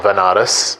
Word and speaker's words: Banaras: ended up going to banaras which is a place in india sometimes pronounced as vanaras which is a place